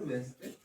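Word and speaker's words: Wednesday: एस डी वाई वेडनेसडे D silent कर सकते है वेडनेसडे भी बोलते है वेडनेसडे वेडनेसडे है ना वेट भी होता है डी साइलेंट ठीक है याद रखना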